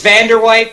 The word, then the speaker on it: Van der Veit: That'll be how it's spelled, you know, especially. It's Vander White, but we call him Vano.